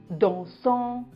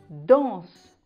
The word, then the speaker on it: dansent: ne prononce pas en on ne dit pas chantant ou dansant ça se prononce chantent dansent le nt ne se prononcent pas on va maintenant passer